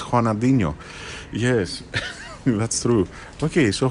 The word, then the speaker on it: Ronaldinho: I was saying Ronaldinho. Yeah, me too. No, it's Juanadinho.